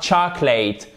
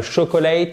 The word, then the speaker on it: chocolate: Et la même chose, attention, c'est pas le chocolate, c'est le chocolate. voyez ce qui s'est passé? Ici, là, cette voyelle-là, on ne la prononce pas.